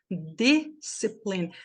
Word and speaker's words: discipline: gente aprende então aqui nesta é discipline a primeira sílaba é forte discipline e esse e aqui no final é mudo discipline três sílabas vamos pra próxima essa